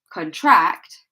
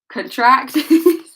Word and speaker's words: contract: If we look at this word here as a verb, contract, it has a completely different meaning. It means to expand, to get bigger, okay? Yeah. Contract, contract, okay? So that's why it's important. That's why we pronounce them differently, so that we know which one we're saying. Are we saying the noun or are we saying the verb?